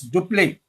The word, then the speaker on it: Dupleix: It is pronounced as Dupleix.